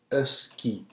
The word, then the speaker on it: husky: E is key you try good us keep us key as opposed to the English husky which is